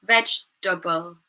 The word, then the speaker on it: vegetable: Here, vegetable, vegetable, table.